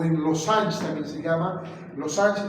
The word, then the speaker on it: losange: Losange es una palabra francesa. Se escribe losange con G de gato.